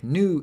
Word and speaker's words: ぬ: Three strokes One, two, three ぬ is pronounced like /nu/ in ‘noodle’ This kana looks like